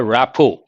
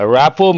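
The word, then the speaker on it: rapport: colleagues don't have a rapo a rapo means a good understanding here the letter T is silent R is also silent I have a good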